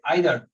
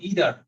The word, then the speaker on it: either: দিয়ে একটা এক্সাম্পল দিয়ে আইদার অর ইদার এটা কিন্তু দুইজন ব্রিটিশ আমেরিকান দুইজন দুইভাবে উচ্চারণ করে একজন বলে ইদার একজন